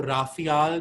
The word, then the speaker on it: Raphael: नया सब्जेक्ट है ये, रफायल. ठीक है? So रफायल भी RAPHAEL, कई लोग इसको राफियाल भी बोलते हैं. So whatever pronunciation you can go ahead with, I call it रफायल.